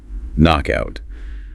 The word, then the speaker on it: knockout: k n o c k space o u t knockout We never pronounce the k, it is simply knock.